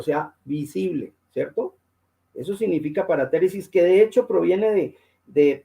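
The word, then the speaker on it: παρατήρησις: Esa palabrita escrita ahí, según la pronunciación, es paratéresis. ¿Qué significa?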